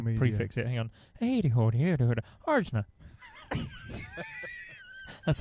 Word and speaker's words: Arjuna: I was I called I thought it was Anja. Right. I thought it was Anya. Yeah, I just didn't read Yeah, it. I thought Anya. it was Anya Polish or Say something. that again. Arjuna.